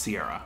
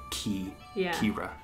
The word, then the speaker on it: Ciara: Now, in the States, for the most part, I would think, we have this name, but it's pronounced Sierra or Ciara. You say that, Kira.